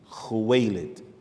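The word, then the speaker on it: Khuwaylid: uh her her name was khadija bint khuwailit khuwailid which is the how you say it so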